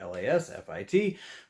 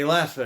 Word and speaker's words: LASFIT: At least I think that's how you say it, LASFIT.